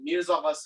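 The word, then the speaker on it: Mirza Ghasemi: a little bit hard to pronounce but i'll spell it out it's called miyazawa it's two words so the first word is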